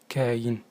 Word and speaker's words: كاين: اليوم سنتعرف على كلمة مهمة في اللهجة المغربية، وهي كاين. كاين تستعمل في تعابير كثيرة، وهي نطق المغربي لكلمة كائن، وتعني عادة موجود، حاضر، ولكن أيضا حادث.